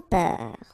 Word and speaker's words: peur: Sans peur. Okay, pronounce the final R, E-U-R, peur.